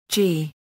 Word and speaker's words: Yii: YII is an open-source, object-oriented, component-based MVC PHP web application framework. YII is pronounced as YI, or G, and in Chinese it means simple and evolutionary,